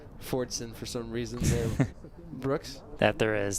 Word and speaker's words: Fordson: immediately behind the goals there's a silent s on that Fordson for some reason there